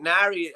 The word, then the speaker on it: Neary: You like Jeff Neary, I should say, who's a young lad in Kilkenny. Yeah, Jeff. I think Nari. I think is how to pronounce it locally.